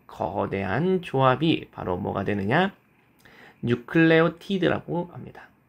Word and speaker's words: 뉴클레오티드: 염기가 붙어서 만들어지는네 종류의 뉴클레오티드가 각각 생기게 되겠습니다. 그래서 뉴클레오티드는 인산, 오탄당, 그리고 염기 세 개가 만나서 만들어지는게 뉴클레오티드가 되겠습니다. 자, 한국에서 뉴클레오티드가 아니라 뉴클레오타이드라고 부르는 경우도 있죠.